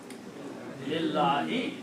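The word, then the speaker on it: لِلَّهِ: You don't have to pronounce the first letter alif. Just like when we created the word ilahun, we drop the alif of ilahun. Similarly, you drop the pronunciation of this. Now pronounce this thing. Lillahi, that's the second word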